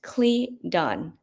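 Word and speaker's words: cledon: this spiritual phenomenon is called a clear on pronounced cli don an ancient name of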